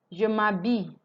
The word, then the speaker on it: je m'habille: The H is not pronounced as usual. That's why you're hearing ma, because I'm doing m'habille. Je m'habille. And here is not pronounced L, is y, y, y.